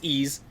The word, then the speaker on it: Ys: it's it's actually pronounced ease uh like easel without the l yes i got i